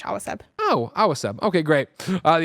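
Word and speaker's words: Awaceb: Awaseb. Awa like water in Spanish. Awaseb.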